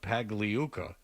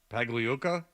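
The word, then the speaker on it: Pagliuca: at work you've uh Steve pag leuka you've said his name no less than 14 times this morning not once correctly put some respect on his name yeah Fred how do you say his name paga pag Luka yeah yeah ah uh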